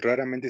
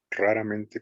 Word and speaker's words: raramente: Aquí el raramente sí se pronuncia como en el español, raramente con la primera R más Sí. sonada.